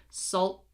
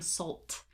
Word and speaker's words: salt: Okay, salt, salt. Also notice I am not releasing the T. I am not saying salt, salt and, salt, no. Salt, salt, okay?